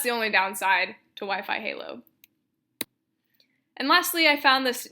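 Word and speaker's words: HaLow: 802 point 11 aah or Wi-Fi halo I think it's pronounced a low is another future technology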